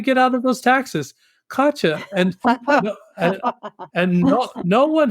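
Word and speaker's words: Katya: could you spell that she says k a t y a and she was pronouncing it katcha and all I said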